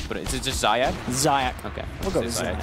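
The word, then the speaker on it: Zayac: I don't want to say his name wrong, that's why I keep saying Lich, but is it just Zayak? Zayak.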